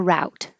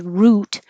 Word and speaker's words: route: One is root, like ROOT, which could be like excuse me, a tree root, or it can be cheer. Who are you rooting for? Root, and you don't have to say the T. Hold the T position. Root. Route 66. Could also be pronounced route, like how.